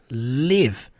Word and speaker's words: live: E sim, você vai pronunciar com o som do i, live.